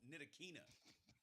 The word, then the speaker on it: Ntilikina: Ntilikina. Yeah. Ntilikina. No, Ntilikina. I pronounced it like I used to call Fred Van Fleet.